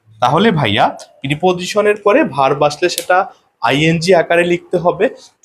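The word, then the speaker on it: preposition: তাহলে আমাদের নিয়মটা হবে এরকম যে প্রিপজিশন পি আরই পিটি পি ও এস আই টি আই ও এন কিন্তু এর সঠিক উচ্চারণ হবে প্রেপজিশন ওকে প্রিপজিশন এর পরে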